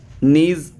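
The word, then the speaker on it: gneiss: तो GS फॉर मतलब GS, G मतलब नीज। ठीक है, G मतलब नीज, G फॉर क्या है, नीज। स्पेलिंग देख लेना, नीज की G से है।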